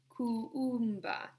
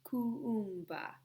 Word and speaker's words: Kuumba: The 6th day of Kwanzaa, we call it Kuumba. And there are 2 U's, so you must pronounce each U. Okay, let me do it again. The 6th day of Kwanzaa, we call it Kuumba.